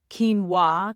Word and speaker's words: quinoa: Quinoa that's spelled qu u i o n a and it's pronounced quinoa.